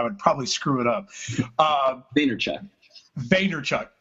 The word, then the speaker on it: Vaynerchuk: I like how he pronounces it on his show, and I'm like, oh, that's a great way to, like, you break it up. It does kind of make sense. Vaynerchuk.